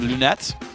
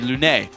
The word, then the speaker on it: Lunette: surprise Morana away from Lunette ironic I've actually asked him even though you would think with a French player that'd be Lune it's not you pronounce the T anyway Lunette Lunette screwed me up